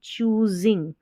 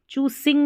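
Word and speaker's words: choosing: From, यहाँ पर इसको पढ़ेंगे चूजिंग, चूसिंग नहीं पढ़ना है, चूजिंग।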